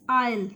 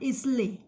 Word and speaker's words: Isle: It is pronunciated as Isle, not Islay.